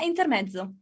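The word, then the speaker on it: intermezzo: between move intermo right can you pronounce intermetzo in Italian yeah intermetzo that sounds so much better when you say it oh you you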